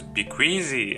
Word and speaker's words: BQEYZ: a income in comments suggested me to pronounce that is B queasy and I think it's